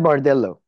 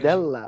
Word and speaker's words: Bardella: Jordan Bardello. That's it, right? Am I right in pronouncing Yeah, that?